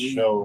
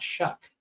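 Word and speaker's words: Shough: They call him Tyler Shuck, but it's s o u g h. It's show. But like everyone that I've like on podcast and stuff, they pronounce it Shuck. It's not Shuck.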